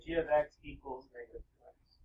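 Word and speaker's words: g(x): That's actually pronounced G of X. Just so you know, so we say it properly. So when you're talking using this, say G of X equals negative 2x.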